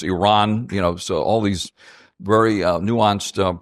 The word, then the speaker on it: Iran: It's not Iran. It's Iran.